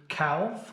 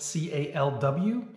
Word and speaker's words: Calw: Calw here with Tearing Up the Miles. This video is of a solo trip that I took to Calw, that's spelled C-A-L-W, a small picturesque town here in Germany that